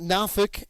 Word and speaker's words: Norfolk: It is not pronounced Norfolk. It is Norfolk. Down there they call it Norfolk.